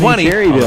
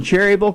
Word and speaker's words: Cherryville: You're not pronouncing it right. I said, we live in Cherryville. She said, that's not the way you pronounce it. It's Cherryville. That's the way it's written, it looks like to me. Cherryville. But hey, I'll do as the locals want.